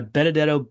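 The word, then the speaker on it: Benedetto: I call that my Benadetto bedside manner. Um, I like things that rhyme. My name happens to rhyme with bedside and there is and there is no bedside manner in medicine anymore, unfortunately.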